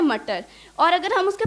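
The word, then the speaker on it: Mutter: तो पीस को हम हिंदी में बोलते हैं मटर, और अगर हम उसके प्रोनाउंसिएशन को थोड़ा सा चेंज कर देते हैं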